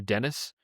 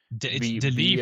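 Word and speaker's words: Denis: The cinematography uh the director which how do you pronounce is it Den or Dennis? Deni for sure.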